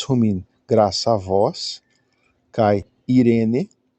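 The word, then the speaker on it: εἰρήνη: Já apareceram, que é o E. Irene, sempre que você tiver um epsilon e um iota juntos, esse ditongo, você pronuncia I.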